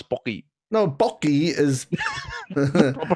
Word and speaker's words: Pocky: Pocky it's an Asian, it's an Asian treat. Okay. It's a stick. It's just like stick. With the chocolate. It's pokey, man. No, it's pocky. No, bocky is proper pronunciation.